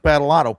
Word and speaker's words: Badolato: him as uh Batalott. Probably not a lot of people. No, Bad. And you actually pronounced my name right, so you must be from the Northeast.